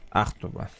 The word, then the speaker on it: Ахтуба: Не Ахтуба, Ахтуба. Ахтуба. Да, да, первое ударение.